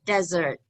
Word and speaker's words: desert: third so the pronunciation desert stress is on the first syllable there are two syllables then third desert on